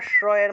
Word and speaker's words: শ্রেয়: নিচে রফলা থাকলে এটা শ্রয়ের মতো উচ্চারণ হয়, শ্র শ্র এইভাবে। ছয়ের নিচে রফলা থাকলে সেটা শ্রয়ের মতো উচ্চারণ হয়, শ্র, সেজন্য শ্রেয় উচ্চারণ করেছি, শ্রেয়োন্যত শ্রেয়োন্যত।